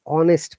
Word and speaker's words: honest: you next class okay so we use n quickly when there is a a i o e and n sound like an honors degree an orange an honest person an honorary m duck